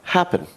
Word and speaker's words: happen: in the verb comes here we've got occur the stress is on the end of the word here we've got happen where the stress is